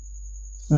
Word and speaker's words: the: अब इसको कभी द बोला जाता है, कभी दी बोला जाता है, तो इनके जो प्रोनाउंसिएशन है उनको थोड़ा सा हम ध्यान रखेंगे। अगर इस द या दी के बाद में अगर वॉवल साउंड है तो हमें इसे दी बोलना है, और अगर कॉन्सोनेंट साउंड